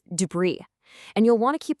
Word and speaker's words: debris: See that S at the end? Well, it's basically on a permanent vacation. You just don't pronounce it. It's debris.